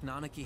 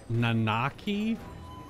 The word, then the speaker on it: Nanaki: I've always pronounced his real name Nanaki instead of Nanaki. Like harder, flatter A's.